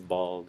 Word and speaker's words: bald: It's a lot like this word. Called. Yeah. Called. So it's called. Bald. Bald. Bald. If something's walled in, walled, Walled. But you're saying more of a T sound. Duh. Walled. Yeah. Walled. Duh. Walled. Walled. Yeah, so you wouldn't say these cold or wold. Walled. Like you were saying this bolt. But it's bald. Okay.